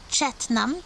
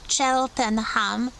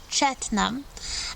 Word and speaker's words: Cheltenham: Another important town in Gloucestershire is Cheltenham, not Cheltenham, Cheltenham, and this was the town, a spa town with some hot springs.